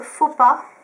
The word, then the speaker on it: Faux Pas: Ensuite, j'ai le faux pas. donc Fauxpa, voilà comme ça se prononce, qui faisait partie d'une collection assez bizarre.